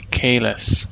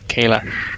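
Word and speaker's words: Kahless: They say Kalis, not Kailash.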